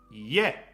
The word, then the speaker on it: 家: House is pronounced 家 ie, I and e. 家 Ie, house, ie, 家 ie, I, hiragana for I, hiragana for e, house.